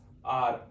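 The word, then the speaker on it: hour: देखिए आर, आर को हम बोलते क्या है, OUR, आर की तरह इसका साउंड होता है, इसलिए आर का साउंड है एच, इसमें साइलेंट है।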